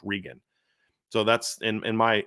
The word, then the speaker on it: Regan: um spells his name like yours and it's pronounced Regan so that's in in my in in in